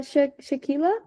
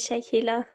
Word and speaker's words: Shahila: Okay, so we got one uh Shaquila. Hopefully I didn't pronounce that wrong. Okay. Hello everyone. Yes, my name is Shahila.